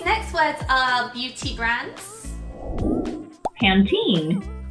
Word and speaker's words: Pantene: Pantene. Pantene. There's an E on the end, you know.